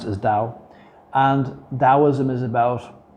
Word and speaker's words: Tao: dao which they they spell t-a-o but they pronounce is dao and taoism is about like living life it's